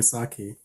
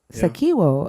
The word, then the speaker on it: Sako: you say your name you can just call me saki but it's Sak Sako oh that's pretty I